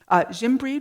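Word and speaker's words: Gimbrede: lessons with monsieur value jim breed was also french which is why i'm saying his name with a a soft g um also french and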